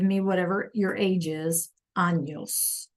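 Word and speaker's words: años: Anos. Anos. Right. We have our little tilda over here over our N. So, we have to make sure that we pronounce that.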